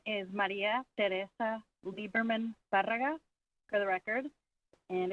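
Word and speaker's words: Liebermann: now begin hello my name is Maria Teresa liberman Fara for the record and it's spelled m a r i a tyon t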